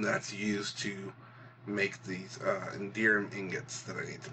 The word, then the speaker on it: Enderium: I hear people say it all different ways, but considering it's, from ender pearls or endermen, I call it Enderium or Enderum.